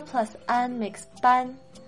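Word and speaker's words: bǎn: And even though ban is spelled B-A-N, remember that it's ban, not ban, as in banning something bad.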